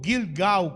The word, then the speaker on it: Gilgal: Essa palavra tem me inspirado muito falando desse lugar chamado Gilga ou Gilgau, como a pronúncia deveria ser.